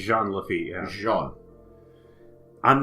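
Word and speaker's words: Jean Lafitte: podcast twice for mispronouncing things okay we we mispronounced Cru like so many so many times and then I was like Jean leit in fact I still try to do jeene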